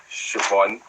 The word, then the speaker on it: Siobhan: I knew it was Siobhan, but before when I used to pronounce that name, I used to read off